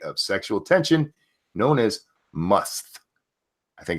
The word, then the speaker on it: musth: sexual tension, known as musth. I think it's how you say it, M-U-S-T-H. Must.